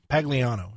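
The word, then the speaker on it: Pagliano: specialist Brian uh pag Pagano Pagano is how you pronounce that uh was granted immunity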